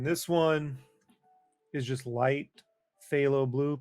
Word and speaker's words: phthalo: And then this one is just light phthalo blue, PHTHALO blue.